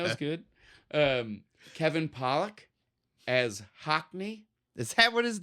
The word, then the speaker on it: Hockney: was Hockey. No, Hockney with an N.